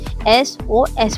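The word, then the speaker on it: SOS: एस ओ एस एस ओ एस इसको हम sauce तो पढ़ते नहीं है। इसको हम एस ओ एस पढ़ते हैं।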